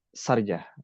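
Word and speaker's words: Sharjah: Tulisannya sarja, bacanya Sarja apa sarja nih, Kang? Sarj. Sarj. Sarjah.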